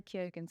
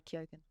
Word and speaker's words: Keoghan: He's Barry Keoghan. Keoghan, that's how you say it.